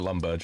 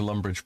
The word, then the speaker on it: Lumbridge: You're the one at Lumberge, yeah? Uh-huh. Mm-hmm. You see, Flags? He doesn't question it when I mispronounce Lumbridge.